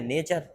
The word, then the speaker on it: nature: 4 दिन से नटूरे नटूरे बोल रहा है, वो नेचर है।